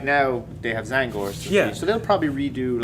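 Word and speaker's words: Tzaangors: Zangors?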